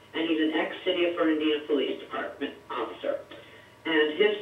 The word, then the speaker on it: Fernandina: With the City of what's pronounce the name again? City of Fernandina.